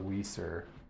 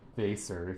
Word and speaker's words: Weser: All right, this whole back area here that's in frame, these are all Pinguicula Wieser, or Weser if you want the German pronunciation.